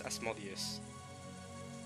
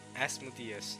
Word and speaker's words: Asmodeus: guys thank you okay guys asmodius not as modius as madias see before you guys wait what uh wrong apparently this is wrong okay apparently is the wrong way to pronounce it alright let's check